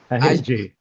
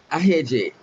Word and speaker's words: Ahejey: I pronounce it Ahejey. You thought I needed help. Okay, I probably did. I like to say Ahejey. I still haven't got the rhythm right, but that's his first name.